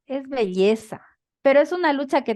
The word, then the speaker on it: belleza: No, pronuncia bien, no, no es con la Y, no es así, no es belleza, es belleza.